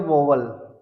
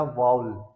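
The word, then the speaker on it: vowel: सब बच्चे इसको बोलते हैं वोवल। तो बच्चों ये वोवल नहीं होता, ये होता वाउल।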